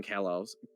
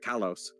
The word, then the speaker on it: Kalos: Well, I feel like Legend ZA really narrowed in on Kalos. Why did I say it like that? Kalos.